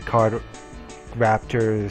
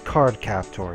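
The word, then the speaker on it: Cardcaptor: this a parody to card Raptor Sakura I hope not oh it's card captor not Raptor my bad I was butchered it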